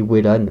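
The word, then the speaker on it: Wellan: véan moi je dis Velan il y en a qui dit Wan ça dépend comment vous prononcez vos W moi je dis Velan comme wagon euh mais Velan a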